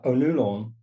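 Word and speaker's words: Ó Nualláin: um but one thing you get Irish spellings and pronunciations Brion uh onulon um and you get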